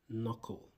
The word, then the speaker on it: knuckle: And we have a silent K. And this is pronounced knuckle. Knuckle.